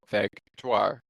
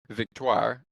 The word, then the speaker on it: Victoire: If I pronounce your last name wrong or your first name wrong, I apologize for the head coach of Montreal, Vetoir. Victtoire, I should say.